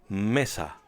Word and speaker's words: mesa: put this into practice notice that this word ends with a vowel a and has no accent mark so the stress falls on the second to last syllable say it with me Mesa now on screen will